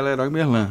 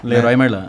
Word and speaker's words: Leroy Merlin: Ou como que é a pronúncia correta? Na França é Leroy Merlin. Leroy Merlin.